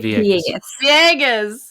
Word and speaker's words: Villegas: Villegas. Did I say it right? Villegas. Thank you.